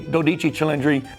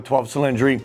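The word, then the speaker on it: Dodici Cilindri: And you got to order the new Dodichi Chilendry if you really want to impress the uh the sales manager and the general manager there. Pronounce it correctly. Dodichi Chundry. Don't call it a 12cylindry.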